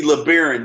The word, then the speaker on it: Lebaron: and then also me i'm replaced um stacy lebaron did i pronounce that correct you did you did um